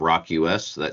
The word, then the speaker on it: ROQ.US: Just in case you joined us late, this is Ross, the president of Rock US. Don't forget, it's spelled ROQ.US.